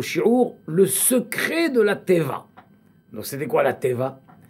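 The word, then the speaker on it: תבה: Attention, ça s'écrit Tav, Yud, Bet, He. Pas Teva. Teva, certains croient que c'est Teva. Teva, c'est avec Aïn, ça c'est la nature.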